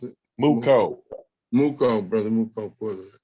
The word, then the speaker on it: Mooco: How you pronounce it? Mooco.